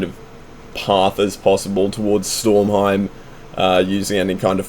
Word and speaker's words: Stormheim: going to want to fly over towards uh stormheim is how you say it you're going to